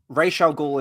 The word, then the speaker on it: Ra's al Ghul: Yeah, I preferred Raish only because Raz just sounds weird. It sounds like RAS. Like, what else are you going to say? Like, Raish actually sounds like a proper pronunciation. And Ra's al Ghul is, I believe, is how they pronounce it in the animated series, right?